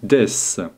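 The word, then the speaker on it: です: bien regardons maintenant death des se prononcer deiss est un pronom est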